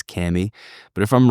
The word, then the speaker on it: Kami: call it is Camy k a m i some people still pronouncing it Kami pretty sure we've settled the proper way is Camy but if I'm wrong